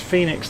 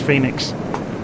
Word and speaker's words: Fenix: to be honest it's phoenix though pocket edition says it's spelt fenix yes i know it is but it's pronounced phoenix i listened to one